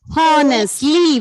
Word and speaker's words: honestly: Honestly. Very good. Honestly. So when we pronounce the word here, H is silent.